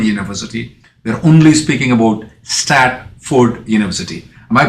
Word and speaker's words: Stratford: make sure that the name of the university is statford not Stanford believe in Stanford is